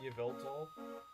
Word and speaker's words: Yveltal: I don't know how to pronounce its name. Yveltal?